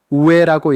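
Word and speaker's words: 上: 그리고 역시 오조라노는 궁창에라는 뜻이며 우에니에서 윗상이라는 한자는 음독으로 읽혀서 우에라고 읽어서 여기에 멋멋에라는 뜻인 조사 니가 붙어서 위에라는 뜻이 되는 겁니다.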